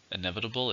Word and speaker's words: inevitable: no control over it inevitable is an adjective how many syllables inevitable there are five stresses on the second syllable inevitable death is inevitable